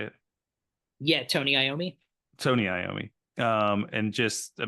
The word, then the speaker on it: Tony Iommi: Yeah, Tony Iommi.